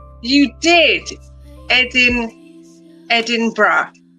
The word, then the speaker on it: Edinburgh: My husband was calling it Edenberg. But it's brah and bra like b r a bra.